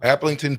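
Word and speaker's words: Aplington: Applington, or is that supposed to be, what is it? Look at that, Bach. Robbie in Iowa. Applington? Yeah. Yep. Applington, Parkersburg here in Iowa.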